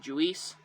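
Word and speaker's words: Juiz: whose name is uh juice juice you know it's uh spelled j-u-i-z so i just always pronounce it julis so anyways uh they're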